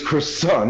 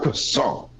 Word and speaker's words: croissant: It's croissant! Yeah, brother. It's croissant, not croissant.